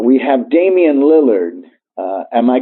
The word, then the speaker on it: Lillard: Portland Trailblazers 4 to 1 we have Damian Lillard am i correct yes that's how you pronounce it we he insults the President of